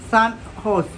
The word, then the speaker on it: San Jose: in the U.S recently the San Jose pronounced Sun horse State University of which